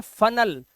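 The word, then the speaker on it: funnel: तो आपने देखा जो ई का उच्चारण है वो आ का उच्चारण आ रहा है, जो ई का साउंड है वो आ बन गया, कर्नल अल, स्पोकन अन, और इसी तरह से फनल अल।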